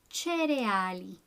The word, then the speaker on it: Cereali: Cereali. Cereali. Notice how the spelling is very similar, but you pronounce the CE like ce. Cereali.